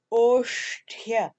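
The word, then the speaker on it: ओष्ठ्य: So the Sanskrit word for labials is oshtya. Again, that is oshtya. So you have the cerebral sh, a half letter, and then you have the cerebral ta, and that becomes oshtya.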